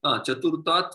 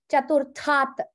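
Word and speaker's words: चतुर्थात्: Vanarah chaturta, sorry, chaturtat vrikshat panchamam vriksham gachati. Very good. Except you, the one thing I will correct is the pronunciation. Chaturthat. Make it mahaprana.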